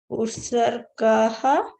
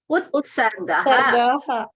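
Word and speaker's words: उत्सर्गः: Utsargaha. Ut, the ta should be heard. Utsargaha.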